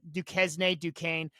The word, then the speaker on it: Duquesne: That's how you pronounce it. Duquesne.